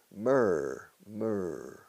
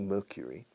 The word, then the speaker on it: Mercury: Fíjate en la pronunciación. No me digas Mercury. Mercury. Un británico Mercury. Americano Mercury. Cure. Como una cura. De curar. Mercury.